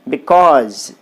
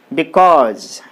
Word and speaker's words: because: is the second syllable so you put the stress mark on the second syllable because c-a-u-s-e calls so